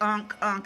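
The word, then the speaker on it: ankh: Unk is spelled A-N-K-H. That's why I always say ink, but it's pronounced unk.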